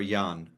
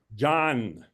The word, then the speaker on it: Jan: Jan, is that John or Jan? John. John. In this transliteration, J is always J and Y is always Y.